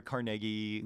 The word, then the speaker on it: Carnegie: seeing but like and you said it right by the way people it's carnegie carnegie yeah people go carnegie carnegie it's carnegie yeah he uh so that